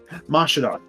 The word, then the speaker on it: Mashadar: Is it Massadar or Mashadar? Mashadar.